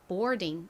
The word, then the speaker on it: boarding: 먼저 B는 비읍 소리 나고요. OAR은 or 소리가 납니다. 그리고 D는 디귿 소리. 끝에 ing는 ing 소리가 나죠? 그래서 boarding 이렇게 발음이 되는데요.